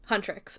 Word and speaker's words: Huntr/x: Huntrix is how it's pronounced.